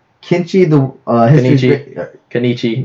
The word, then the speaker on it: Kenichi: I'll start off and say Kenichi, the history. Kenichi, not Kenichi. It's Kenichi. It's Kenichi. Okay. There's like however you want to pronounce it.